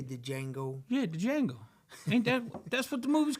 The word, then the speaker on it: Django: Yeah, the Django. Ain't that's what the movie's called. Okay. What's it called? Django. It has a D. Okay, next. D is silent.